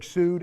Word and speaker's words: Süd: And in Hamburg, South America, or Hamburg Süd, S-U, glottal stop D.